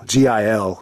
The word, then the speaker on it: Gil: a Cortez or like Luis Gil, Gil. The G is silent.